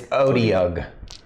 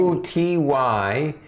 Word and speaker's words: Otyugh: It's Odyug. how do you spell it? Otyugh.